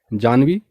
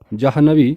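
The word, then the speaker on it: जाह्नवी: है अगला शब्द है जानवी यह नाम आपने कई बालिकाओं का सुना होगा जबकि जानवी अशुद्ध प्रयोग है इसका प्रयोग नहीं होना चाहिए इसकी जगह में जहनवी प्रयोग शुद्ध है तो शुद्ध वर्तनी है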